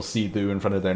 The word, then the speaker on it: Sithu: so I think C2 the burmes pronunciation is C2 is um it's a it's like a it's an old title for royalty on Burma um so like Old Kings used to have the title see do in front of their